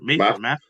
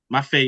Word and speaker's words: Mafe: Math. Mafe? Yeah. Mafe, yeah.